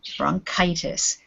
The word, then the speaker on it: bronchitis: word bronchitis yes good bronchitis the ch in this case sounds like k instead of and bronchitis